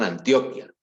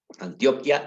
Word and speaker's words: Antioquia: No confundir con Antioquia. Antioquia es un departamento de Colombia. Esta se pronuncia Antioquía, ¿de acuerdo?